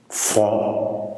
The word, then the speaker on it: front: Parce que front, un mot de la même famille que front, vous avez frontal. Donc le front, le T ne se prononce pas, je mets un T.